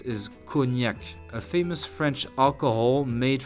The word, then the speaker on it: cognac: Number 6 is cognac, a famous French alcohol made from wine, which is already an alcohol, so it's pretty strong. Try it once if you can. Ready to repeat? Cognac, cognac, cognac.